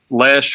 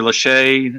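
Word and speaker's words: Lesche: good quality tools um lash or lache however you want to pronounce it as a good brand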